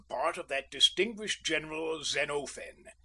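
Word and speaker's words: Xenophon: Usually I took the part of that distinguished general Zenofen and please note the quantity of the O.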